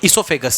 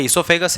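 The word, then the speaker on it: oesophagus: ठीक है, ये जो पाइप है ये होता है इसोफेगस, ये इसोफेगस है. ओ से स्पेलिंग शुरू होती है इसकी, OESO PHAGUS.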